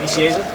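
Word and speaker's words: Nicieza: Vicieza?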